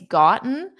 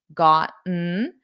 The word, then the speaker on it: gotten: So notice the first time I pronounced it with the T's. I don't normally do that in spoken fast spoken English. I would do the glottle stop. Gotten. Gotten. But you can absolutely say gotten.